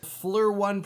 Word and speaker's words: FLIR: And finally, I received a thermal camera from a company whose name I can actually pronounce. Fleur1 Pro.